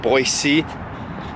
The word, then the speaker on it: Boise: This little Applebee's, I mean Boise. Saw that on a shirt, that's how you correctly pronounce it.